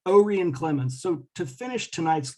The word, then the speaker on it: Orion: brother orion and it's it's spelled like orion but they pronounced it with a long o o ray and clemens so to finish